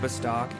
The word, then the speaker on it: Bastok: I usually start a character in the city of Bastok, or Bastok, however you want to pronounce it. Bravo, A, Sam, Tom, O-K. Bastok is how I pronounce it. And outside of Bastok is North Gustaberg, South Gustaberg, etc.